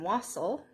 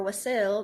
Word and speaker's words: wassail: So this morning I am drinking some wassail, or wassail, depending on where you're from and how you pronounce it, I guess.